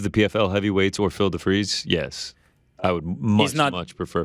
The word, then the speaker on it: DeFries: Is it DeFries or DeFries? No, it's DeFries. You put the DeFries. Yeah, you put the fry emoji. It's spelled like fries.